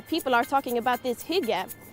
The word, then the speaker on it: hygge: i got here people are talking about this hijab it's pronounced and if you look it up in